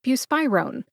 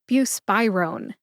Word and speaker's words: buspirone: Put that all together and you get buspirone. Emphasize spy. See if you can hear that emphasis when I say it again. Buspirone.